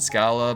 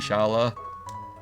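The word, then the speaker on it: Schala: I've always used to pronounce it Scala, but I think it's actually supposed to be Shala.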